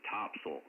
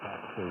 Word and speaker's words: Topsail: The locals pronounce it Topsail.